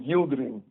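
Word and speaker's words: Yildirim: That's uh Yildim. We call him Yildrin. Yilderin.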